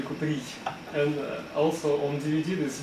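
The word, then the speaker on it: Kuprij: Caprice. Caprice. Вот какое там. You're laughing at my pronunciation. Would you like to improve upon it? Yes, because it's Vitaly Kupri.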